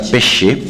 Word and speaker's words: Pesce: Es un apellido italiano, se pronuncia Pesce, pero como le resulte mejor.